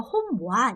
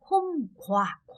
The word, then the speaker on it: hôm qua: 자, 얘는 와라고도 읽히지만 사실 얘가 홈와 이렇게 발음하면 좀 어려워요. 그래서 베트남 사람 홈와 이렇게도 하지만 홈과 약간 기역 발음처럼 나기도 하거든요. 이렇게 홈과 이렇게 발음이 많이 돼요.